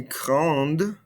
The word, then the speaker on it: grande: So again, notice how we're not pronouncing these ending consonants in French. Grand, petit. I don't hear this ND. I don't hear this T. Petit, grand. However, adding this vowel, adding this E at the end, we don't pronounce the E, but we do hear those consonants now.